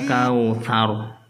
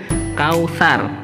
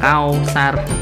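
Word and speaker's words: الكوثر: Kemudian yang terakhir kautsar. Ada fathah bertemu dengan wawu sukun, bacanya kau, bukan kau. Kautsar, kautsar bukan kausar.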